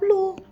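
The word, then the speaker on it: lù: Ini dibacanya tetap lu. Tidak ada perubahan.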